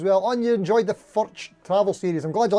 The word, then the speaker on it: Furch: So what happened was, if you missed it, so Furch, that's how you say it, by the way. I kind of knew how to say it from early on, but I kind of